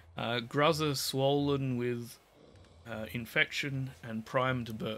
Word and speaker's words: Gruzzer: Volatile Guzzler. Gruzzer. There, say it right. Gruzzer swollen with infection and primed to burst.